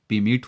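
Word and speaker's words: permeate: तो मैं बता दूं, यहाँ आर, जहाँ जितने भी आर हैं पूरे आर साइलेंट हैं। तो इसे बोलेंगे पीवेड, इसे बोलेंगे पीमेट, लेकिन इसे बोलेंगे पकलेट।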